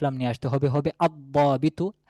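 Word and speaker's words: الضابط: নিয়ে আসতে হবে, হবে আদ-দাবিতু, আল দাবিতু না আদ দাবিতু, এখানে লামের উচ্চারণ আসবে না, বরং এই দোয়াদের সাথে লামটি মিশে যাবে, হবে আদ দাবিতু অফিসারটি বা একজন নির্দিষ্ট অফিসার।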